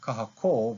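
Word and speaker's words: kahakō: elongation of the vowel kahako versus kahaku can you hear the difference kahako kahako with one kahako without one kahako so elongates the sound of the vowel affecting the pronunciation but it also changes the meaning of the word itself for example lolo versus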